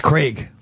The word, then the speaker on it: Craig: I was talking to Greg about something not in the business something a lot deeper that's that well I I like Jason couldn't even pronounce his name correctly it's Craig Craig CRA there's a lot of